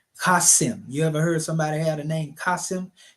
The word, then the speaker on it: Qasim: Qasim. You know, sometimes they spell it with an E. You know, but it's a Z sound. That's how it sounds. Qasim.